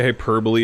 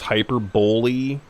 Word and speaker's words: hyperbole: two syllables that's true i used to say hyperbole is hyper bully and sometimes still do